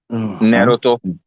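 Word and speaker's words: Naruto: ये क्या नाम का थोड़ा सा तलफ्फुज कीजिए, प्रोनाउंस कीजिए सम, ताकि हम आपको सही से नारुतो एक एड्रेस कर एनिमे सकें।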